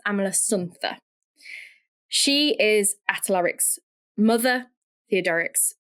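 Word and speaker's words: Amalasuntha: Amala Sununa, I think is how you say it. It might be Amala Sun, but I think it's Amala Suna.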